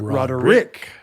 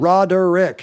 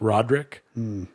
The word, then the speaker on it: Roderick: Yeah, it's 3 syllables. Roderick. Roderick. What if it was on the middle syllable? Roderick. No? Fully half the people in my family pronounce their last name as Roderick, and I disavow them.